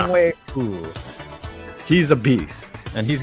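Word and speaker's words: Younghoe Koo: But Young Hee Ko or whatever. Young Wei Koo. Who? Now you know how to pronounce it, right? Yeah. Young Wei Koo.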